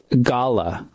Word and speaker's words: galah: General purpose informal greeting, pronounce good day with flattened vowel sounds, not good day. Gala.